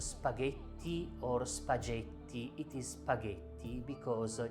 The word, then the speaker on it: spaghetti: or singular e plural g plus h is the sound g so the doubter it is pronounced spaghetti or spaghetti it is spaghetti because g blue plus